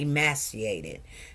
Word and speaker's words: emaciated: I'm going to say emaciated because that's how they told me to pronounce it.